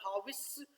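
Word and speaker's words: harvest: अब ये जो लफ्ज है हार्वेस्ट है, इसमें आर भी साइलेंट है और ये जो वेस्ट नहीं पढ़ना, इसको विस्ट पढ़ना है, हार्वेस्ट।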